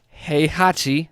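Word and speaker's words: Heihachi: has used characters like he Hachi hey hey it says he I know but that's just how it's spelled all right hey Hachi from Tekken or Link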